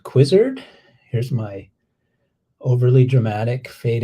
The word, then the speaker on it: Quizrd: with this idea called quizzard here's my overly dramatic fade in slide with my logo and everything rhymes with wizard uh because it's a